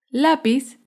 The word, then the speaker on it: lápiz: Lápiz es una palabra grave porque se acentúa en la penúltima sílaba.